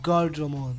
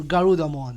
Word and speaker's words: Garudamon: They have Guardramon or Garudamon. I was pronouncing the name wrong.